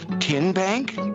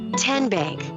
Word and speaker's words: TN Bank: you enroll wildcats role how do you say the name tn bank nope tin bank uh-uh so what is it ten bank ten as in tennessee right here where all